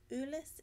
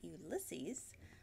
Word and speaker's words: Ulysse: Ulysse is the correct pronunciation. As you are well aware, we are in Texas and tend to butcher things, so we've all been calling it Ulysses leading up to its official launch.